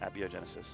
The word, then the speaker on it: Abiogenesis: I normally just call it biogenesis because it sounds like smoother. Like I feel like the A is, I was trying to think about how I pronounce it. Abiogenesis is usually how I go.